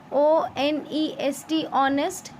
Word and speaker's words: honest: Okay, now in these two words, children, make sure that when we are pronouncing it, जब हम इन words को बोलते हैं, ऑनेस्ट, आर, एच हमारा silent होता है.